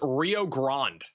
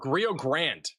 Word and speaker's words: Rio Grande: It's pronounced Rio Grande, or Rio Grande.